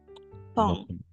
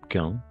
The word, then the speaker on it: quand: Quand. Oui, bravo. Pas quand. Quand. Siempre que veamos esto, no vamos a pronunciar la U, ¿de acuerdo?